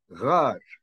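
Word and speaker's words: ⲅⲁⲣ: The third pronunciation is pronounced as gh, gh as a gh. This is otherwise than the other, or the two top pronunciations. Like the word here, we say rar, rar.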